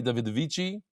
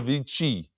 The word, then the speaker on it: Davidovich: by Ilan and Mary Davidovich. He says you said it's not the Davidici. You don't pronounce the I at the end? Davidovich.